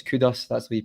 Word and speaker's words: Kudus: So I knew they had a few good players, and I wasn't surprised when it's Kudus, that's the way you pronounce it, scores that goal.